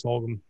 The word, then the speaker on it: Fulgham: Anyway, so in my sleeper, I'm going with, and thank y'all for saying his name earlier so I can pronounce it properly. Travis Fulgham.